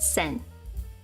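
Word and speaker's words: 線: And this is line, pronounced sen.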